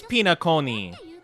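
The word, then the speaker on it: Penacony: Oh, it is Pinaconi. Okay, so it's not, yeah, okay, Pinaconi. Pinaconi. Okay, I like that pronunciation more.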